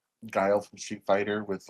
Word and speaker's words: Guile: Isn't it pronounced Gile? No, it's Guile.